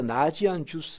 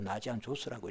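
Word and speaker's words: Ναζιανζός: 그 중에서 나지안 주스 혹은 나지안 조스라고 하는데 헬라어로 나지안 조스라고 읽어요. 그러니까 나지안 조스의 그레고리 우리우스를 그 신학자라고 불러요.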